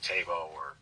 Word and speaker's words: Thébaud: So, but the official correct pronunciation is officially what? Thébaud. Thébaud. So I guess in English it would just be Tebow or yeah, like it's not a problem.